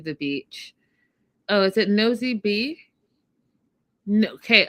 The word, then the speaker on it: Nosy Be: Oh, is it Nosy B? No. Okay, I wrote it down phonetically. No sea bay. No bay. I got it right.